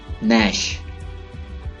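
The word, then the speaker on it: gnash: नैश, नैश, दांत चबाना, नैश। इस वर्ड को 99% लोग गलत प्रोनाउंस करते हैं।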